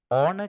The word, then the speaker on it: honor: H අකුරෙන් මේක පටන් ගත්තට අපි H අකුර උච්චාරණය කරන්නේ නැහැ. H අකුර silent H අකුරක්. honor කියලා තමයි අපි උච්චාරණය කරන්නේ.